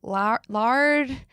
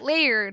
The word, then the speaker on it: Laird: And I was like, lard? And she's like, Laird. I was like, liar. Like, I could not say Laird for the life of me.